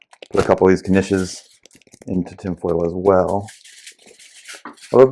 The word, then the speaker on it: knishes: I will put a couple of these Knishes into tinfoil as well. Although those we could probably just throw right on. No, you pronounce the K.